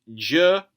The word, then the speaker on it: Girafarig: Like, I do like Girafarig, but that's, nice and easy and simple to pronounce. J-ra-fa-rig. Each syllable's distinct, whereas A-lo-mo-mo-la.